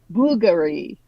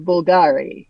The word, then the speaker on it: Bulgari: And Bulgari instead of Bulgari, which is what I would have said.